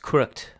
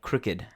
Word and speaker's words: crooked: Crooked, another common word, which is the opposite of not straight, is not pronounced crooked, but crooked.